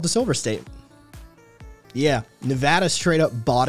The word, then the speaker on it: Nevada: ] like touchy about how its name is pronounced that it's not nevada it's nevada and like people get in trouble for saying